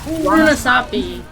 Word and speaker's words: Runasapi: How do you pronounce this map? Runasapi.